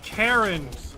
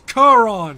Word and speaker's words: Charon: We have an enhanced manufactured Karen. It's Charon.